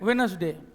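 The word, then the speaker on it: Wednesday: ठीक है, वेडनेसडे, डी क्या होता है? साइलेंट होता है।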